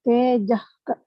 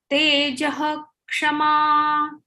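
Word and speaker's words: तेजः क्षमा: And the third sloka, how to pronounce the tejak, hik or tejak? Tejak bhi nahi, ka bhi nahi. It is tejah kshama.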